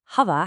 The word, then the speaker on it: هذا: First up, hada has a long a sound, but it's famously written without the vertical alif letter for that first a.